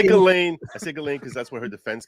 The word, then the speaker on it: Ghislaine: but you've got to pronounce her name right. It's Ghislaine. I say Ghislaine because that's what her defense counsel called her.